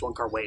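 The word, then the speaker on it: Wong Kar-wai: distribution wonka wide trailers one car way each other's excuse me i'm learning his name is pronounced one car way so i'm going back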